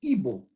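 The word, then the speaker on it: Igbo: tribe whose name is evil you write it I G beep oh you don't pronounce the G it comes to evil which is in according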